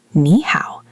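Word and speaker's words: 你好: It becomes a rising tone instead. So nee how is actually pronounced nee how, with the first syllable rising.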